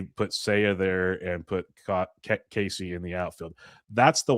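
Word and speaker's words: Caissie: They've actually said things and I might mispronounce the last name, so please correct me, but Owen, is it Casey or Cassie? Casey. Casey.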